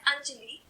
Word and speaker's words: Anjali: My name is pronounced as Anjali, but Japanese speakers grow up considering R and L to be the variants of the same sound.